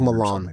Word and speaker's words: Milan: Well, the actual town is Milan, because it's Milan. spelled. Milan, but it's spelled like Milan, but it's pronounced like Milan.